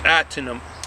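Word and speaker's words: Ahtanum: Now this Ahternum, I know when you see the word, it's spelled A-H-T-A-N-U-M. It's Ahternum. That is a low alpha.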